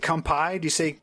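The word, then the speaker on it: 乾杯: Is it kampai? Am I saying it right? Kampai? Yes.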